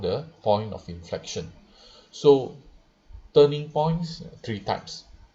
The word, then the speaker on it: inflexion: So both pronounced as inflection, but different spelling.